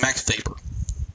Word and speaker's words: Max Weber: So next we have Max Weber. I know his name is spelled Weber, but it is pronounced Weber, so you will hear me say that a good bit.